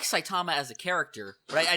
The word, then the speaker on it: Saitama: really enjoyed about uh sait's character am I saying this right I'm saying Sait and you guys are saying saitama am I putting emphasis on the wrong salable it's it's probably saitama okay saitama saitama saitama it's